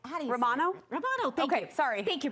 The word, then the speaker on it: Romano: what um I don't know what we're saying Romano Romano thank sor thank you bro this was like a fun game of charade no one was moving but someone was talking Romano yes yes yes sorry practic sorry I wasn't